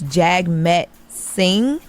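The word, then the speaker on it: Jagmeet Singh: So Drake called out um a man I I don't even know how you say his name. I believe it's Jag Met Singh.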